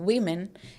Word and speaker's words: women: our plural form and some people mispronounce it as what wom women but it is not wom and women it is women okay this is women